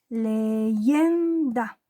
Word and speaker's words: leyenda: En el caso de la palabra leyenda, su sílaba tónica o golpe de voz está en la penúltima sílaba, aquí.